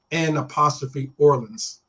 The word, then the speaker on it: New Orleans: If you're going to go down there, make sure you don't pronounce the EW. It's like N' Orleans.